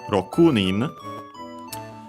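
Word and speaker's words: 六人: number starting with six We actually move the accent before the nin racunin.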